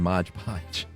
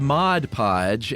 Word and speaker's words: Mod Podge: When we got written in about the hodgepodge, I kept saying Mod Podge. Right. It is Mod Podge, and the corrector got it right. I just kept saying it wrong.